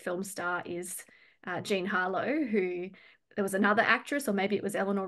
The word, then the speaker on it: Harlow: star is uh Gene Harlow who there was another actress or maybe it was Eleanor Roosevelt who used to say um that the tea is silent so Gene Harlot um was